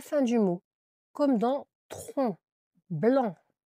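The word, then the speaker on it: tronc: En général, il se trouve à la fin du mot comme dans tron blanc, le tron avec un C à la fin que l'on entend pas.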